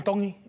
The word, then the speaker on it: Tongi: My name is Iam Tongi, and I'm from Kahuku, Hawaii. Iam Tongi. Tongi. You pronounce the T's like a D in the Tongan culture. Tongi.